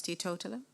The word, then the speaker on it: teetotaler: Yes, teetotaler. Is there any other pronunciation?